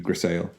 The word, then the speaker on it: grisaille: grisaille glass, which is, it's a French word, so if you were to pronounce it phonetically, it would be grisaille.